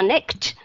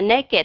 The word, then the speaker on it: naked: họ hỏi các bạn, ủa tại sao cái chữ naked không đọc là next mà lại đọc là naked, thì các bạn nói cái luật như thế nào?